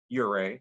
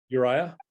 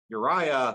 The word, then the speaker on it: Uriah: on that David had set for her husband you're a would you pronounce it that way Uriah Uriah thank you and twice David asked him to